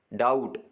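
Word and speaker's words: doubt: है B silent है डाउट इसमें भी बी साइलेंट है नम बी साइलेंट है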